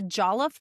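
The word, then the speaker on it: jollof: The Jolof party, is that how I say it correctly? And Jolof is a a type of rice. Yes. So, the jellof party.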